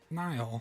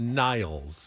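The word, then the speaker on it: Niall: that guy's name n Nile Nile Horan Horan not Niles Nile just Nile like like the river in Egypt right but it's spelled differently Nile haran he was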